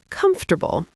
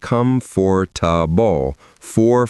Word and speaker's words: comfortable: The first one is comfortable as in comfort zone. We talked about this earlier. Now, a lot of people look at this word and say comfort for four full syllables.